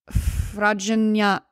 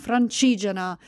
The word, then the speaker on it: Francigena: position on the Via, let me say this right, Fragina, Fragine, I know how to say it. Hold on. I'm not going to say I know all the words perfectly, okay? No, that's the American one. I'm doing Google Translate to say it right. Francigena.